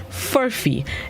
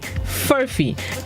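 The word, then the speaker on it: furphy: 1901 word of the day this morning is furfie it's spelled p-u-r-p-h-y furfee it is unknown it is unknown which means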